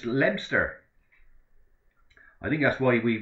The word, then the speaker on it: Leominster: I'm probably 13 miles north of Hereford in a town called Leominster, pronounced Lebster.